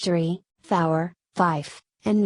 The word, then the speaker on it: Fife: somewhat distinct from 4 5 is pronounced with a second F because the normal pronunciation with a V is easily confused with fire a command to shoot